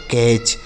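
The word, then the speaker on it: catch: आगे लिखा है सी ए टी सी एच इसे पढ़ा जाएगा बच्चों कैच। सी ए टी सी एच कैच। देखिए यहां पर जो टी लिखा है ना यह साइलेंट है। इसको नहीं पढ़ा जाता है।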